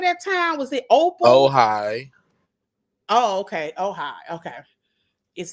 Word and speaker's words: Ojai: How do you Yes, it is Ojai. pronounce it? Okay. The J sounds like an H. Okay. I got you. I'll get it. Ohio. Okay. Not Ohio, but okay, whatever.